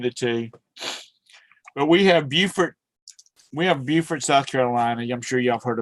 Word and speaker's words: Beaufort: And then we have a Beaufort, North Carolina, and it's spelled the same way, but it's pronounced different. Beaufort.